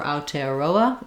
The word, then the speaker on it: Aotearoa: for there so again trying to go for aotearoa is going to be pretty good again i